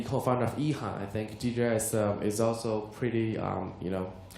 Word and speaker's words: DJI: It's G. It's G. It's no, DJI. DJI. Sorry.